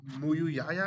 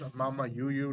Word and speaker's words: MamaYuyu: Now, I'm gonna correct myself because I said it wrong. Is MamaYuyu, not Mumuyaya.